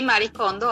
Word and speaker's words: Marie Kondo: Y tenemos en línea a Katiuska Silva, periodista, quien nos va a hablar de un personaje llamado Marie Kondo. ¿Se pronuncia así, Katy? Sí, Marie Kondo, así es.